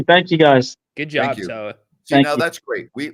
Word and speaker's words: Toa: Toa, T-O-A, and Samoan means warrior.